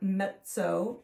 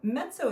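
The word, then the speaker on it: mezzo: louder is m p and that stands for Meto piano metzo is spelled m z zo o kind of like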